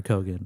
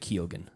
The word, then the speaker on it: Keoghan: Colin Farrell and Oscar nominee Barry Keoghan or Kogan. Yeah. Not at the time either though. He pronounces it Keoghan. Keoghan? Yeah. Keoghan. Like Riley Keough. No, it's like that. It's like the bridge from Every Little Thing She Does Is Magic.